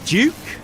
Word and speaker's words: Giuk: Pronounce Giuk the same way that you pronounce juice. So it's Giuk?